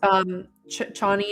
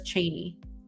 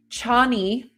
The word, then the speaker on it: Chani: after I read the book, the narrator says Cheney.